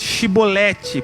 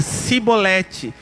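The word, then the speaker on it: Shibboleth: não então lhe diziam dizes pois shiboleth porém ele dizia sibolete porque não a pronunciar bem então pegava um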